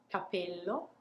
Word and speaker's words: capello: So what we do is technically taking a little pause before we pronounce the P. So I'll show you one more time. The one with one P, capello, capello.